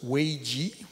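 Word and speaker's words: 危机: Alors, effectivement, le mot crise, ce que je trouve intéressant, c'est qu'en japonais ou en chinois, le mot crise, qui se prononce weiji, pour ceux peut-être certains d'entre vous qui parlent chinois, en fait, c'est à la fois le danger, mais aussi l'opportunité.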